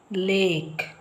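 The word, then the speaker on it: lake: ನ ಫಾಲೋ ಮಾಡ್ಕೊಂಡು ಹೋಗಿ ಲೇಕ್ ಇಲ್ಲಿ ಇದ ಉಚ್ಚಾರ ಇಲ್ಲ ನಾವು ಬರೆದಿದ್ದೀವಿ ಆದ್ರೂನು ಅದರ ಉಚ್ಚಾರ ಇಲ್ಲ ಇಲ್ಲಿ ಎ ಬಂದಿರುವಾಗ ನಾವು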